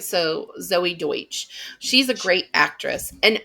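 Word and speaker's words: Deutch: so insta Wiki says Deutsch is how it's pronounced d-o-y-t-c-h all right so Zoe Deutsch she's a great actress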